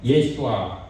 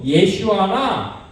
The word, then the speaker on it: 예슈아: 엘리사 이름입니다이 신약이 예수님 예수님을 정확한 히브리 발음으로는 예 라합니다 예수아 그다음에 헬라는 예수스 이렇게 하는데이 뜻은 바로 또한 하나님께서 구원하신다는 거예요 그니까 엘리사 예수 예슈아 같은 의미입니다 하나님께서 구원하신다